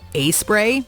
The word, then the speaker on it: A-Spray: With a name like Doc Bottoms and A-Spray, pronounced A-Spray but easily misread as Aspray, you'd think this product would be ripe for a parody.